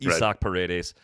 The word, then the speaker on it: Isak Paredes: Everybody I know who spells their name that way is an Isaac, but it's Isak Paredes.